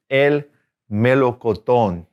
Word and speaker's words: melocotón: First one's el melocotón. El melocotón. Accent on the last O.